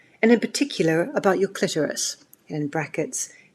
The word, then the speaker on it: clitoris: in particular about your clitoris. And in brackets, it spells it out, k i k l i t o r i s, so that people know how to pronounce it, clitoris.